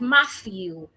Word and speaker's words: Matthew: But, we have some names where the H is not silent, like Matthew, like uh I'm trying to think of other names.